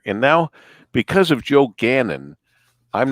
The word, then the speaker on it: Gannon: how would you pronounce that Canyon don't know pronounce again and that's right joe says Gannon but I thought in Monroe we said it